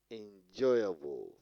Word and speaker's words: enjoyable: Enjoyable, placing on the second syllable.